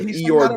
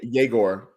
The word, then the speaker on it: Yegor: He said Igor Demon, right? No, it's like Yayor. Oh, Yegor.